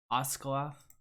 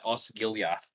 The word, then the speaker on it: Osgiliath: The battle for Oscaloth. How do you say that? For us, yeah, Osgiliath.